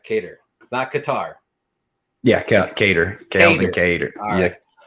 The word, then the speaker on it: Kattar: kater versus josh emma let's say it right cater black guitar yeah cater calvin um i believe